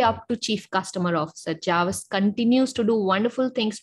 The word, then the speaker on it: Jarvis: we have a special guest today Jarvis Harris Javas am I pronouncing your name correct you are pronouncing it